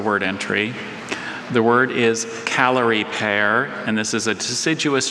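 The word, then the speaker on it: Callery pear: Calorie pear. Are there any alternate pronunciations?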